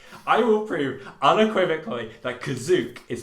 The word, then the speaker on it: Kashyyyk: he says citizens of kazuk listen here and it was like oh my god so in the in the holiday special kashyyyk is actually pronounced kazuk that was literally the